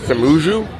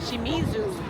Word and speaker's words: Shimizu: How do you pronounce the port? Samu. Shimizu.